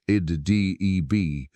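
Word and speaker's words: edh-Dhib: His name has come down to us as Muhammad Adib, pronounced Id-Deb, which in Arabic carries the meaning the wolf.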